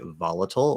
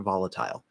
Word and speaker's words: volatile: american english yeah so we have two ways you could say volatile or volatile now as i may